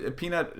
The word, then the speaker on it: Peanut: Yeah, I don't really know how to pronounce it, but Peanut is the correct pronunciation. Peanut tore the league up,